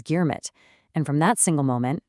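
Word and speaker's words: girmit: Because they couldn't speak the language, they mispronounced it as germit.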